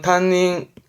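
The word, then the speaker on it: 担任: 보냐는 요런 부분도 있죠 발음은 탄닝 탄닝 뜻은 담임이 담임 셈의 임자입니다 사람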